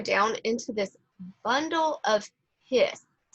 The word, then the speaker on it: His: node we go down into this bundle of hist right here it's pronounced his not his um i don't know the reason for that but that is how it's pronounced um so the bundle of hiss here is where it goes off of your